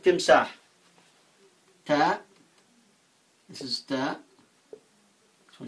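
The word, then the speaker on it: تمساح: So we pronounce this word Timsah, Ta, Mim, Sin, Alif, Ha, Timsah.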